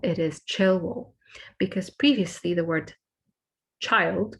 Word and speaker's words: Childwall: If you are from Liverpool, you might recognize that this is where our university is based, and it is not pronounced Childwall, it is Chilwell, because previously the word child would have been pronounced child.